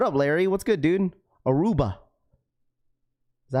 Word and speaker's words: Aruba: Aruba. That's how you say it.